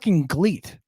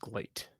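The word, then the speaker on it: GLEAT: watched gleet I I don't even know what a GLE is I think glate I think it's pronounced glate it's GLE a t I'm aware of that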